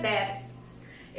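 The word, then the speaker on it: bear: बियर के जो बच्चे होते हैं, बैर के, सॉरी इसका सही प्रोनाउंसिएशन है बैर.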